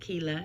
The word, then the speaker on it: Quilla: again this picture of mama cuellar pronounced quila in some places you